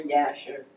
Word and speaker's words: Jasher: Uh the book of Jasher um or Yasher would be the proper pronunciation speaks of that situation right with uh Sarah and um Ishach.